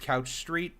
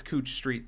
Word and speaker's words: Couch Street: Also, this is not pronounced Couch Street for anybody who's not from Portland. That is um that's Cooch Street there.